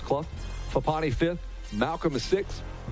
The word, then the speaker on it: Clough: the number three spot clough c-l-o-u-g-h although it's pronounced club fupani fifth malcolm is